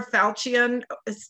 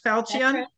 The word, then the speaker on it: Falchion: murder which was absolutely wonderful one the silver falcion pronounced that right falcion award for best cozy mystery and was a